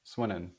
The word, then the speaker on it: Swinnen: Is it An Swinnen? Is It that how we is, pronounce it? yes. Swinnen.